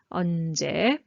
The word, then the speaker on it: 언제: So I will show the answer: ----- --- so ㅓ sound vowel sound starting so you must have zero consonant first and ㄴ underneath. 언 and -- ㅈ plus ㅔ we use this ㅔ. 언제 Next "how" "how" is